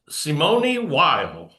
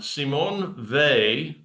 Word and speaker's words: Simone Weil: Whenever you see somebody presenting on her who says uh Simony while you know that they've not done their research and that you need to look to another scholar besides them. Um, Simon Vy uh died at the age of 34, but